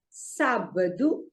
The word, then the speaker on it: sábado: So it is segunda-feira, terça-feira, quarta-feira, quinta-feira, sexta-feira, sábado. See, there is an accent there, so the stress goes on the first syllable. There are 3 syllables, sábado.